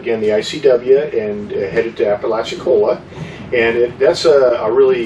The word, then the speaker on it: Apalachicola: going to, which is Apalachicola. I think I actually said it right.